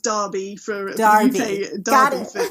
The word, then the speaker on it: Derby: It's where I come from is and it it's actually pronounced Derby for for UK.